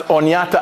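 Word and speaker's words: Oneida: is the word Onida in the Unida language pronounced onata on it means people of the standing Stone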